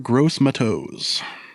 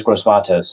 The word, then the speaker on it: Gross-Matos: Also, there's a question of who would you rather for defensive ends, AJ Epinesa or Yetur Gross-Matos? Just threw some pronunciation curveballs at you, huh?